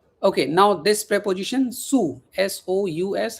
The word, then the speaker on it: sous: Okay, now this préposition sous, s o u s. How do you pronounce sous?